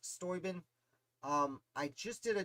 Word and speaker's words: Steuben: baron von stoyben which i have a bad habit of saying steuben i believe it's pronounced stoybin um i just did